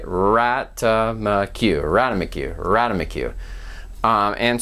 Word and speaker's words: ratamacue: kind of has an elongation at the beginning radamiku right rata macu radomic you radomiku um and so we've got